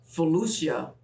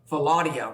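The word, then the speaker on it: philautia: It's hot and it's steamy, romantic love, ludus, playful love, mania, obsessive love, philusia, self-love. Philadia, rather, is the way we should pronounce that.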